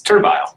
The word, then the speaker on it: Turville: It's Turville. How you want to pronounce it. It's Turville. Cool.